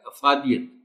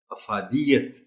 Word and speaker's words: افادیت: یہ نمایاں ہو سکے۔ اب اس لفظ کو عام طور پر پڑھ دیا جاتا ہے افادیت، جبکہ درست تلفظ ہے افادیت، انسانیت۔ اعتراف، تے کے